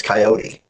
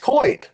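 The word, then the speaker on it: Coyte: So, like when I would talk wrestling and stuff, I always thought his name was Coyote.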